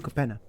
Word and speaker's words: Capenna: card from the set how do you say the name of this set i'm so sorry streets of new kapena kapana streets of new capenna okay please company arcane bombardment